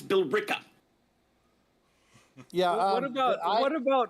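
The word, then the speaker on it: Billerica: all over the place I live next to a town that is spelled b i l l e r i CA now a normal person looking that would think it was uh Boler no it's Bela yeah what about what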